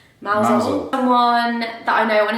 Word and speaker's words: Mousehole: And then after that, we drove over to a town called Mousehole, but it's pronounced Mousehole.